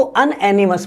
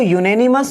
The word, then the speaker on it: unanimous: जबकि ये यूनेनिमस बोले या इसको अनएनिमस बोले, ध्यान रखना दोस्तों, गलती कहां होती है? इसका प्रोनाउंसिएशन जो है वो यूनेनिमस होता है, अनएनिमस नहीं होता।